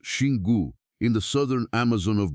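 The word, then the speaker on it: Xingu: Then travel to the headwaters of the Shingu River, pronounced Shingu, in the southern Amazon of Brazil, and you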